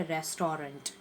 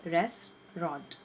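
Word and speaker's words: restaurant: vote दिया गया उसको हम क्या प्रॉमिस करते रेस्टोरेंट तो कि पैसा नहीं है क्या कहेंगे रेस्ट्रॉन्ट रेस्ट्रॉन्ट कि रेस्टोरेंट में है ओके प्रणाम शुभ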